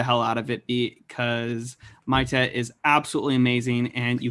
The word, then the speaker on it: Maite: By the way, we were not on YouTube Live when I first made the connection of the song "She's Maite," and that is the way you pronounce her name.